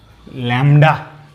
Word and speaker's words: lambda: তো দেখো এটা হচ্ছে LAMBDA, যেটা বাংলা হচ্ছে ল্যামডা, বি এর উচ্চারণটা হয় না।